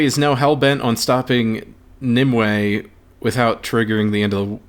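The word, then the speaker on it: Nimue: now hell-bent on stopping nimway without triggering the end of the world so nimwei is spelled n-i-m-u-e but uh you know it's nim way and in english that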